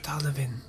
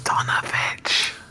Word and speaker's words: Donovich: Father Donovan. Father Donovan? Hello? Oh, my mic, I turn up the gain a little bit. It's Donovich. I said it wrong.